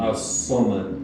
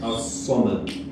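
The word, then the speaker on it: الصمد: As-Samad with a Sad, so thick S. As-Samad.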